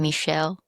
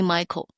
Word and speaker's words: Michelle: Still someone call me Michael. People call me Michael. I said stop. My name is Michelle. It's not Michael.